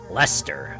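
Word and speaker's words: Leicester: Lester. Okay, gotcha. Thanks. Red leester cheese.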